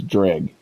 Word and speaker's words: Dreugh: game so far um the way I like to pronounce it is drag and the reason I do so is because the NPCs throughout the game many different instances they call it drag um I know this